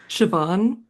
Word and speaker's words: Siobhan: And then I'm actually not how sure how to pronounce this actress's name because it is very Irish, but it's like Shyen Fallon Hogan. Siobhan Siobhan Fallon Hogan